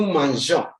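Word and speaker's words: manger: not sung to say like how some people pronounce it but he said no Manja simply because the je is before a vowel like oh if you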